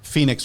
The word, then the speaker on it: Fenyx: And out popped up Phoenix Rising, which is, you're thinking of Phoenix Rising from the ashes, but it's spelled FENYX or something dumb. It's looks like Phoenix.